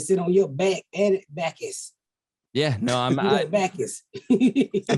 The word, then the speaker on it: Backess: You not listen to the syllable, Backess. I got a back and a little bit of ass. You don't hear that ass in the Backess.